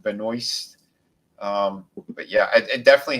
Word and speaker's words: Benoist: one and cbs um melissa benoit but she pronounced it benoist um but yeah it